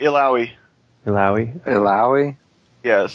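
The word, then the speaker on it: Illaoi: I have no idea how to pronounce this name. It's like Ileoe or something like that. Yeah, Ileoy, I think, is No, it's Ilaoi.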